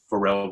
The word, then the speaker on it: Farel: as in Frank, A-R-E-L, pronounced like Farel the singer, as we discussed.